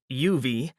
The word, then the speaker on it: UUV: Unlike Louu, who pronounced UUV the normal Navy way of UV, Peterson drawled out every individual letter like the damned thing was a useful piece of equipment.